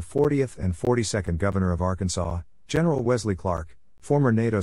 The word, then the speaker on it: Arkansas: In 1881, the state legislature defined the official pronunciation of Arkansas as having the final sb silent.